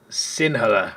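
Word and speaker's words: Sinhala: you go TAMU and Singa or the H just kind of pronounced like a g Singa the country's majority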